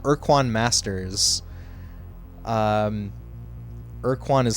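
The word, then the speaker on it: Ur-Quan: a different title it's called Quan Masters um erquan is spelled like this I don't know if you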